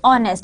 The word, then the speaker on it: honest: is honest right now this H is silent and we call it honest otherwise if we would